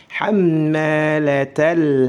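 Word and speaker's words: حمالة: Hammalatal, ma panjang, mim bertasydid, ditahan 2 harakat, baru dipanjangkan 2 harakat.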